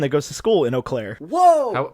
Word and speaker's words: Eau Claire: is that Wisconsin I actually know how to pronounce Eau Claire because I have a friend that goes to school in Eau Claire whoa how was it oh Claire does this